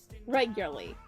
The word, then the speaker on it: regularly: She can't say regularly. Regularly. That's how you say it.